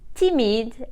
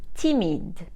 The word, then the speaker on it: timide: feminine conto and conton if the masculine ends in e the feminine uses the same word and the same pronunciation so we do not add anything timid and timid shy if the masculine ends